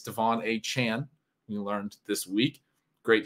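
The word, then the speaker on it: De'Von Achane: somebody who's come kind of out of nowhere Devon a Chan as it's pronounced now we learned a lot of you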